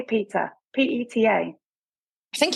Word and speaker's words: PETA: So how do you say this, Peter or Peta? Because I say Peter, P-E-T-A.